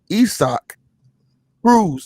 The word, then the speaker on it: Isaac Cruz: this little dude named isaac cruz and they pronounce it esoc rules they just fought in june that would probably